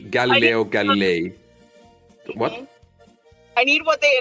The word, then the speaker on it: Galilei: Galileo Galilei. Galileo Galilei.